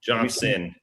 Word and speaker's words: Johnston: Johnston.